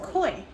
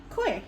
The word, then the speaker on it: koi: Oh, so it's pronounced koi. Koi, yeah. K-O-I. It kind of looks weird, but it's pronounced koi.